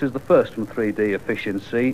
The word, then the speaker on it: A Fish In Sea: surrounded that's the first from 3D efficiency which is spelled like a fish in C and it's called alone